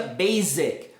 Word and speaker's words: basic: Básico em inglês não se pronuncia basic. O som de Z não, é basic.